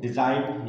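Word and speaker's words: design: कुछ एग्जांपल देखते हैं, डिजाइन, यहां पर देखें जी लेटर के बाद क्या आ रहा है, एन लेटर आ रहा है।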